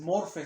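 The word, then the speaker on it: μορφή: que que la palabra que es morfe se pronuncia Así morfe es el sonido morfe esa palabra morfe hermanas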